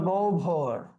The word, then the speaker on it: গহ্বর: আবার যেমন ধরো গৌভর, গহ্বর, এইখানে গয়ের সাথে একটা কি আছে? অধ্বনি আছে। তাহলে হ এবং গয়ের আগে অ বা আ থাকলে ও হবে গৌ ভর।